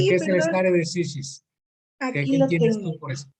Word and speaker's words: stare decisis: ¿Cómo se pronuncia, profesor? Stare decisis.